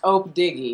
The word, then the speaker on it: Opdiggy: It is pronounced Opdiggy.